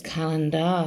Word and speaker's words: calendar: And it's the A-R instead of the E-R phoneme.